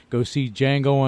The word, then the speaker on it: Django: movie to go see Django Unchained, and that D is silent.